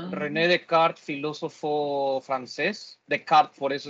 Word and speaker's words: Descartes: de kart filósofo francés de kart por eso se pronuncia de kart y no descartes pero nuestros mismos start